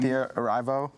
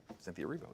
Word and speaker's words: Cynthia Erivo: Cynthia Erivo. Is that how you pronounce her name?